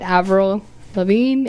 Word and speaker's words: Avril Lavigne: have any thoughts on Avril Lavigne that's how you pronounce it Avril Lavigne a Bri L I